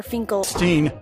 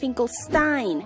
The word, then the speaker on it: Finkelstein: flutter like whip from dr. Finklestein no it's pronounced Finkelstein get it right but alas things don't